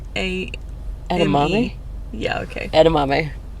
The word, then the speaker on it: edamame: pronounce e d a m aame yeah okay edamame how do you pronounce it that was right I didn't pronounce